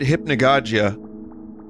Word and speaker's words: Hypnagogia: Hard G. Hypnagogia.